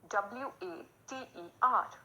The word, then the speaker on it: water: word is water water w-a-t-e-r r is silent so we will pronounce it water i drank a glass